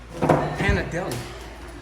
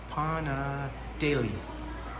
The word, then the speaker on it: Panadeli: The Hannah Deli. Panadeli. It's actually pronounced Panadeli. Daily, I guess.